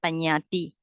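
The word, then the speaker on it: Paññatti: So Panyati. All right. So Panyati comprises names and things. So I get this one from the fundamental of Abhidhamma by Sayadaw Dr. Nanamala. Right. So the names are Panyati.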